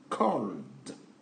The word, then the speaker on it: called: Au niveau de la prononciation, on attend de, called. Parce que le L est une lettre faible.